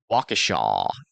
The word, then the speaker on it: Waukesha: Waukesha. Gotcha. Thank you guys for helping me with that difficult pronunciation.